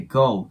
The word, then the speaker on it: go: 思うんですけどこれ実は GO って伸ばす感じじゃなくて GO 最後にね U が入る 20 ボイになり